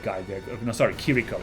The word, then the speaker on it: Kiriko: there you know sorry kiriko it's not chirico it's kiriko I think it's the pronunciation yeah he's still playing